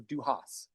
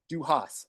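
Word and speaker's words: dùthchas: And I believe it's pronounced something to the essence of Duhas. Duhas, an ancient Gaelic word.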